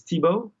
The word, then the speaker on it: Thibaud: Anglos and international people it's really a French name and so so tip